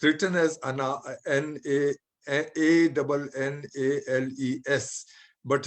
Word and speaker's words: Annales: It's written as Annales, but it's pronounced Annales. S is silent in French.